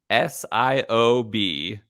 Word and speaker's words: Siobhan: Haven yeah yeah in Gaelic BH is pronounced V uh now you know my co-worker actually has a daughter named Siobhan which is spelled get this s-i-o-b-h-a-n pronounced Siobhan um which